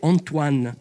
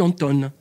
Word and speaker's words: Antoine: Alors il ils arrivent pas à ceux qui n'ont pas étudié des langues étrangères, ils arrivent pas à prononcer Antoine. Alors ils disent Anton à l'anglaise.